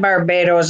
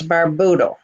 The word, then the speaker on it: Barbuda: It's not Barbados, it's Barbudo. Budo, it's spelled that way.